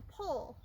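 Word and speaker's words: poll: And then our very last horse part that we did is called the Pole. It's spelled P-O-L-L.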